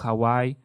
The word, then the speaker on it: Hawaii: ciertos manantiales como en Hawaii Perdón se correcta pronunciación es Hawai pero lo decimos Hawaii no donde en Hawaii